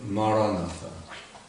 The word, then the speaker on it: Maranatha: word I would recommend is the word Maranatha four syllables na na na na